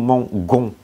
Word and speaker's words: mangeons: Nhưng mà không, khi mà kết thúc bằng ger thì chúng ta chỉ bỏ chữ r thôi, mình nhét vô ons. Tại vì khi mà mình bỏ chữ đi thì nó sẽ phát âm thành là nous mangeons.